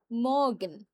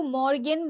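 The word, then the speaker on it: Morgen: just লিখে রাখেন ড মগেন মগেন এখন যদি কেউ মর্গেন বলে তাহলে ভুল হবে না হ্যা কিন্তু আমরা যে আরটাকে একটু সাইলেন্ট রাখবো এটাকে একটু সাইলেন্ট রাখব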